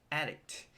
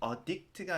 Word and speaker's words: addict: A coffee addict. 커피 중독자라는 표현인데요. 여기서 addict 발음이 강세가 앞에 있어요. 그래서 addict가 아니라 addict라고 해주셔야 돼요.